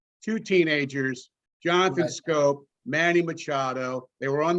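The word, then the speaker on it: Schoop: up late 2010 and we had his name wrong for a few days we thought his name was shoop you know but but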